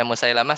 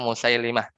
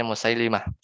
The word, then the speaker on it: Musailimah: ya al-qur'annya musai lama kalau baca Musailamah salah ya yang benar itu musailimah ya yang benar itu bacanya musailimah Mak Sebagian ulama bilang